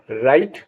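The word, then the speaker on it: right: हाई और आर आई जी एच टी का उच्चारण राइट इस आधार पर इन शब्दों का उच्चारण करें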